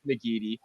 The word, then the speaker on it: McGeady: They no R, by the way. You're going to be tempted to slip an R in there every time you spell it or write it, but it is just McGeady.